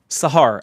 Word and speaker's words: Sahar: How do you say it? Sahar.